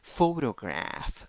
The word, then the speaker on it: photograph: you have statue statue next 10 letters eight sounds three syllables the first syllable is the stressed syllable it has o with a hat o then you have o in the second syllable and ah in the third syllable photograph photograph number nine